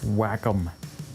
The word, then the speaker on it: Wacom: pad would you get on that oh it's pronounced wacom whatever you need one of those to work